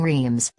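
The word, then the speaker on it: Reims: Renoir painting stay and reams pronounced something similar to rods or it for me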